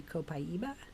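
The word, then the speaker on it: copaíba: is from Brazil and if you were Brazilian it would be copaiba it comes from a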